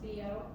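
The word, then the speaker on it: Biot: Now the book goes into, this is pronounced Bio.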